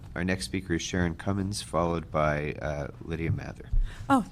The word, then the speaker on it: Cummins: Our next speaker is Sharon Cummins, followed by Lydia Mather. Oh, thank you, council member. You actually pronounced it right. A little bit of practice. I usually get Cummins. The Cummings gives me plausible deniability.